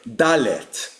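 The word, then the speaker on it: דלת: This is the word in Hebrew for the uh letter dallet. And here you have these vowel points a e. So we have this word here dallet.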